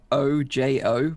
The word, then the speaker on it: Ojo: It's spelled O-J-O, but it's pronounced Ojo. Yeah, but Spanish stands for I. Oh, okay. It's the same as I in Spanish.